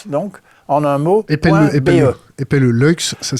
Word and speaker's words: Luyckx: Lux, ça s'écrit.